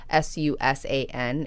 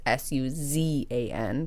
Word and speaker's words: Suzan: She's changing the S to a Z in her name. So instead of Susan, it's Suzan.